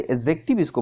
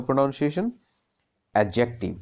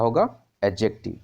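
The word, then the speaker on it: adjective: तो यहाँ पे जो डी है ना उसको हम लोग साइलेंट लेकर चलेंगे, डी को हम लोग स्पेल नहीं करेंगे। तो जब डी को आप साइलेंट कर दीजिएगा तो क्या होगा इसका प्रोनाउंसिएशन? एडजेक्टिव। क्या होगा? एडजेक्टिव, ठीक है।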